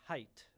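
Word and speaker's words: Haidt: You might like to know that John pronounces his last name as Height.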